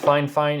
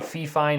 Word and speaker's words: FIFINE: called fine fine they told me it is pronounced fine fine in an e-mail but it looks like it's pronounced fie fine or fie fine but they told me fine